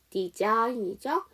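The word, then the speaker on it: design: 앞에를 사인에 붙여 주세요 디자인이죠 그때도 지상 묵음이야 그죠 자 그다음에 마지막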